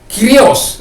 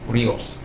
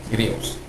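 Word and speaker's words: κύριος: Kalau kuria, ya, orang katakan kuria, kiria, itu nyonya bisa, tanah air, ibu bisa, atau kirios, ya, bukan kurios, kirios.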